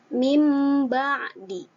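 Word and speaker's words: مِنْ بَعْدِ: Nah, cara membacanya mim ba'di. Ya, jadi di atas ba itu biasanya ada mim kecil.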